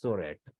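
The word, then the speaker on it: צרעת: Original word was sorat, T-S-O-R-A-T, sorat, where T is silent.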